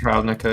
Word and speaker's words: Ravnica: It's pronounced Ravnica, yeah.